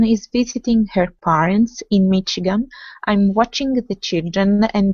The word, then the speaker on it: Michigan: especially American place names because Michigan has an SH Chicago has an SH sound not sure how this